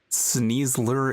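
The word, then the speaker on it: Sneasel: It's name wasn't Sneezler. But what was it called? No, it's Sneezle. Sneezler. That sounds like something I would call it to intentionally say it wrong.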